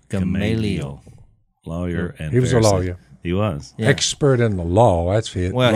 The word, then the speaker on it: Gamaliel: Gamaliel. Gamaliel.